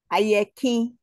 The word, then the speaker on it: Ayeki: Ayeki.